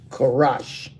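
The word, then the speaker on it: חרש: It says um, karash. Karash. That's a ka a ra and a sha. And you connect the rah and the sha and it makes it rash.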